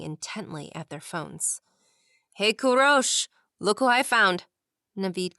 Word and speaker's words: Kourosh: “‘Kourosh’? What does that mean?” Andi asked once Naveed was gone. looked up from his phone. “My family always calls me that— it’s how you pronounce ‘’ in Persian.